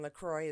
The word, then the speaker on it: LaCroix: Somebody asked about my pronunciation of Duncan LaCroix. All right, I prefer saying LaCroix as well. We have a drink here. It rolls off the tongue. We're used to saying it.